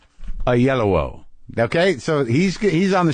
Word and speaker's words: Oyelowo: bit of video to make sure I knew how to pronounce it a yellow David a yellow okay so he's on